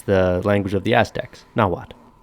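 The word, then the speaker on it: Nahuatl: is the that's the language of the aztecs now what it's spelt at the end it's it's n-a-h-u-a-t-l like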